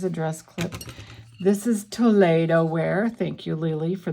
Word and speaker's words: Toledo: So Lily told me, and the correct pronunciation is Toledo. Toledo, which is kind of a Espanol, kind of Spanish.